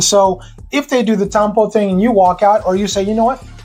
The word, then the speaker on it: tampo: Let's continue our tampo.